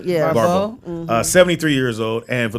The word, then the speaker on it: Barbeau: Barbeau. I think that's how you pronounce it. Barbeau. Yeah. Barbeau.